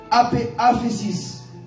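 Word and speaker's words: ἄφεσις: En grec, pardon est prononcé aphésis.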